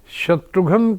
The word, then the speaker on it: शत्रुघ्न: हैं यस you know because शत्रुघन is your name now लेकिन शत्रुघ्न सही नाम उच्चारण तो वही होना चाहिए शत्रुघ्न शत्रुघ्न एस एच ए टी आर यू जी एच एन ए लेकिन लोगों को लगा